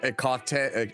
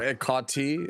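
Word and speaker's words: Hecate: I just they don't pronounce the H, right? Yeah. Yeah. It's there's apparently the H is silent. It's like ecate ecate or ecati.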